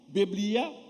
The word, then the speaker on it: Biblia: le mot français que en latin même prononciation bebllia Biblia qui signifie petit livre